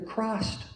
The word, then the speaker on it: Krast: ancient Egyptians called the Krast garment. It's spelled K-R-A-S-T, but when I lived in Nashville, people said they used to go to the Church of Christ, and and little